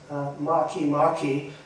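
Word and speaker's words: Makemake: Maki. Yeah. So anyway, so I looked it up, and it was the biggest print on the whole screen, and it's pronounced Maki, and it's actually a minor planet.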